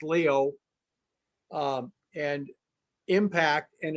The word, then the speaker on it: Lyot: when this big impact, it's called the LYOT or Leo, it's French, so it's pronounced Leo, and impact, and it's